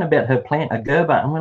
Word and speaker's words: Gerbera: I reckon you say it Gerber, because we've heard. Yeah, we googled this, and you guys say Gerber or Gerbera. We say Gerbera.